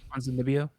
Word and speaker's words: Ponzinibbio: Moving on to Kevin Holland versus Santiago Ponzinibbio. Ah, God, I butchered that name so bad. Ponzinibbio?